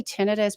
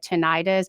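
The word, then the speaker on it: tinnitus: say ten ten is there is two ways to correctly pronounce it um I say tenus because the other way of saying it tenias is so close to tendonitis that people can get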